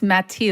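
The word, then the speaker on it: Mathilde: he think can I guess the the correct pronunciation yes ma that's correct uh no it's mati oh mati well then what happens to the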